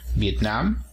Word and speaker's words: Vietnam: sílabas finalmente tenemos a viet nam y en cuanto a país decimos vietnam el acento se encuentra en la última sílaba vietnam en cuanto a